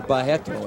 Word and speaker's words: Barreto: Telligman is defending well against the low kick attempts there by Carlos Barreto. Or Barreto, as they pronounce it in Brazil.